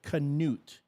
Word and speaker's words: Canute: I wanted to I wasn't sure how to pronounce it, so it's Canoot.